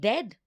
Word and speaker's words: dead: And dead, it's said like bed, not bead.